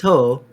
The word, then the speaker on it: Ho-Oh: But Lugia, Oh, or is it Ho-Oh? it's Ho-Oh.